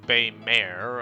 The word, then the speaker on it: Baymare: And Bamer is pronounced Baymare, okay.